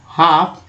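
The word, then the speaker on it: half: अब देखिए सी यू एन को जो प्रीफिक्स वर्ड है, contribute to wards, हाफ, हाफ है ना, यहाँ पर एल का उच्चारण नहीं हुआ है, एफ का सीधा हुआ है।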